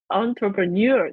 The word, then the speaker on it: entrepreneur: entrepreneur entrepreneur entrepreneur you the stress is on you yes entrepreneur